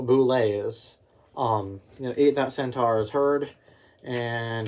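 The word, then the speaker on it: bulette: This is a boulet. Apparently that's how it's pronounced.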